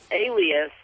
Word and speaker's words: Elias: It's pronounced Alias, but it's spelled Elias.